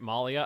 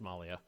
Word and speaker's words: Mali: You are the great Malia. I don't think that's how the name of my country works. I don't think it's pronounced Malia.